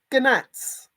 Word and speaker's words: gnats: And while I was out in the garden, there were loads of gnats.